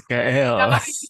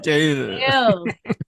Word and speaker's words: Gael: It's Gael. We did not. Emphasize the L. Gail. Gail. Gael.